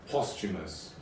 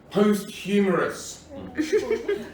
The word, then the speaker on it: posthumous: someone pronounce the phrase posthumous, as in after someone's died. Up until then, I'd only seen it written down, and I thought it was pronounced posthumorous.